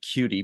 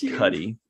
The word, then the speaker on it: Cudi: I like cutie better, but apparently it's pronounced Cudi.